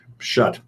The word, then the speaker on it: Schuette: The justice system in Michigan is not rigged, and is actually his name's pronounced Schutt.